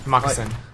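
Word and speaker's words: Marcassin: That's how you pronounce it. Marcusson. Yeah, like the Parmesan. It's exactly the same, well, right?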